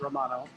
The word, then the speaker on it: Romano: and by the way I've learned today that he pronounces it Romano not Romano uh like great Romano it's Romano uh but Jordan Romano Romano